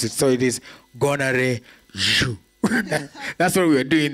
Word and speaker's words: Gonarezhou: name, but he's just taught me how to pronounce it. So it is Gonarezhou.